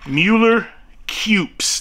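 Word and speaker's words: Mueller-Kueps: Mueller Cupes. That is, in fact, how you pronounce that name. It's German.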